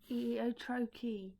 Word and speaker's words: trochee: If I could write it, I Is would it be like writing Trochee? Trocchee. Trochee.